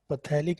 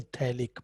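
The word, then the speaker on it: phthalic: पथैलिक नहीं, थैलिक, P silent होता है, थैलिक एसिड, ठीक है।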